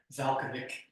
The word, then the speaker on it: Valachovic: Valkovic. Valachovic. Valachovic. It's spelled Valachovic, but it's pronounced Valkovic.